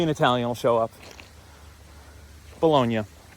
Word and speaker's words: Bologna: Bologna is how it would be pronounced, like in Italian.